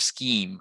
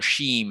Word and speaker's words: scheme: took the example here as pronouncing uh scheme as skim instead of scheme or something along those lines um if the students did that or sheem instead of scheme that would count as a mistake and strong l1 intrusion